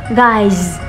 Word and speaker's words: guides: I guides. Nhìn thấy chữ sơ nhưng mà phát âm là z.